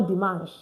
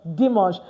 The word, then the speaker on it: dimanche: So please, no more dimanche, okay? It's now pronounced what? Dimanche.